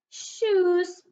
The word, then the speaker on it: shoes: Okay, this one, O-E is making an oo sound. So this word is sh. Oohs, shoes, shoes.